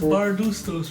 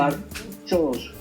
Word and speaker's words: Bardutsos: Andreas Bardustos, right? How do you pronounce it? Bardutsos. It's not ST, it's TS. Chos, Bardutsos.